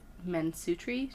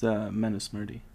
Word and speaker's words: Manusmriti: The Mansutri changed the rules. Yeah, however you pronounce that. Manusmriti. You don't have to. No. Yeah, good enough. It's Manusmriti.